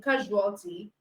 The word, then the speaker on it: casualty: So you have vision, just like casualty. Okay, so the S in casualty is also given the j sound.